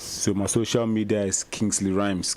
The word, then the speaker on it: Kingsley Rymz: social media links so my social media is kingsley rhymes k i n g s l e y r y m z that's it rhymes everywhere kingsley rhymes for hits he hit